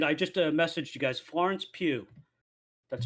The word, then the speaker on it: Florence Pugh: And I just messaged you guys, Florence Pugh. That's how you Yeah.